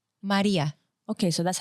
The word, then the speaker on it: Marija: who don't know but how do you pronounce it Maria oh but our J is y Maria okay so that's how